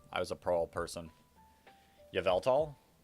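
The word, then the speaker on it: Yveltal: Yavevelt. I pronounce it yeave tall.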